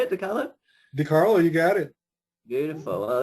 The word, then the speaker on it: DeCarlo: DeCarlo, you got it.